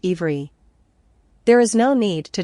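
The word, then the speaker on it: עברי: It is the etymological root of the word Hebrew, which is obri, and pronounced ivri.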